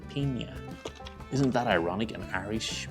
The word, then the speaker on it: piña: Even though you might say it wrong, you might say Pina Colada, but it's actually Piña.